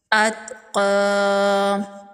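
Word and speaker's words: الأتقى: बराबर खींच के पढ़ेंगे अत अतका या को साइलेंट कर देंगे अलदी [गाना गाने की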